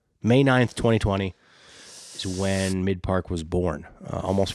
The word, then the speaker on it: Mic1park: whatever you want to say, but it is pronounced Mic1park.